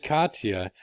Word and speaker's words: Katia: a storm for the fishes alright so again Katia and yeah that's how you pronounce this storm it's gonna drift to the